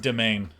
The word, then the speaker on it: demesne: It's pronounced domain.